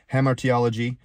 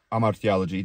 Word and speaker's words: hamartiology: For example, theology, angelology, eschatology, end times, anthropology, study of man, hamartiology, or amartiology, depending if you're using the Greek pronunciation, the study of sin,